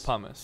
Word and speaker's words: pumice: It is pumice. Pumice is correct. Kev spelled it wrong, but it's pumice. How do you spell it? Pumice. Pum ice. Oh, I did like hummus, but with a P.